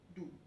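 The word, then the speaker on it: d'où: sorry apostrophe d apostrophe and then o u so it will be together pronounced as do so do the antenna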